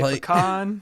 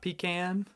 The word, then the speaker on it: pecan: We say pecan, not pecan. Things like that.